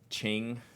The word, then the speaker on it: Qing: Qing. Okay, gotcha. How about this one? Ming Kong. Is it K? Che? Some other pronunciation. But this ink, Che. Awesome, thank you. Q is usually Ch.